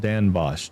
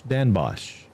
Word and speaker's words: Den Bosch: We just say Den Bosch. Pronounced Dan Bosch. Dan Bosch.